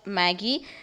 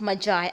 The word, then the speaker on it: Magi: It is the gift of Magi. Okay, and not Maggie. It's the gift of Magi.